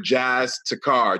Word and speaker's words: Jas Takhar: Jas Takhar.